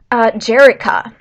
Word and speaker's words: Jerica: It's not a G. It does not start with a G. Jerica. It's like Erica, but with the J at the beginning.